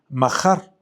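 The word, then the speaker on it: מחר: la palabra eh eh se se pronuncia majar. Majar. Eh, haz de cuenta que la J es como un como si dijeras jalapeño. Es así es como es gutural, es es eh es majar, es acento en la en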